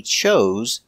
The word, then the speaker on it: chose: a choice and he chose the orange pronunciation use the Zebra z chose Z he had a choice